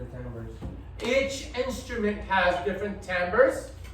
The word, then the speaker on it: timbre: the word Americo Americans call it tamber um but it's it's written like this it's Italian it's okay this